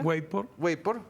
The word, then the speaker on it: WAPOR: Organización Mundial de Encuestadores, la WAPOR, ¿cómo se pronuncia? WAPOR, Miguel.